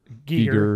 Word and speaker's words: Giger: They do all the open spaces and it's not Geiger, right? Like that he's actually pronounced Giger or something like that.